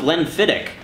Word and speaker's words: Glenfiddich: Nick on YouTube says, having learned the proper pronunciation of Glenfiddich, do you now pronounce it properly?